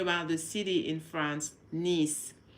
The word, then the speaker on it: Nice: For them, they're going to think you're talking about the city in France, niece. So that's how we say it. Like the niece, nephew, nephew, niece.